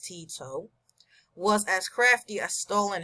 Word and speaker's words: Tito: president of Yugoslavia marshal Tito pronounced Tito was as crafty as